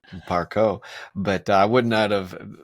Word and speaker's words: Parcaut: that first I asked how do you say Parco but I wouldn't out of French So 20% French but right you had to rub that in didn't so it's Ed Parco p a r c a u t but